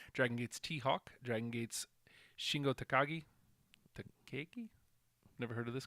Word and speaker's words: Shingo Takagi: Dragon Gate's Shingo Takagi. Takagi? Never heard of this guy either. Takagi? I hope you just say it like you're from Chicago. Shingo Takagi.